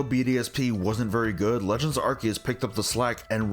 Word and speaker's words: Arceus: Yes, it is pronounced Arceus, it is done so in the promotional material, in the anime, everywhere else. It is not Arceus just because of the pronunciation of it in Japan.